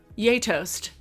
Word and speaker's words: Gjetost: But yeah, Yay Toast. And it's spelled GJETOST.